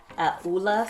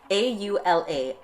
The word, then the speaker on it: Aula: on Amazon from the Aula store. I'm trying to say it right. A-U-L-A, Aula. No. Aula. Yes, just like it says right there.